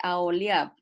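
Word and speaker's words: Aholiab: y a a joliat o podemos decirle aoli porque en español no no pronunciamos la la H es aoli y a todo varón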